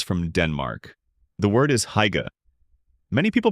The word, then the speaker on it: hygge: The word is hygge. Many people pronounce it hygge.